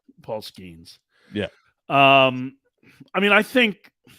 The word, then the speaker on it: Paul Skenes: Is that how it's pronounced? Paul Skenes.